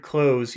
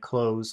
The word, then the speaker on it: clothes: for months okay so that word close you never pronounce the th it's just like close like close the door okay sport close for